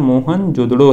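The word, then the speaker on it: मोहनजोदड़ो: मोहन जोदड़ो शब्द का सही उच्चारण मोहन जोदड़ो है।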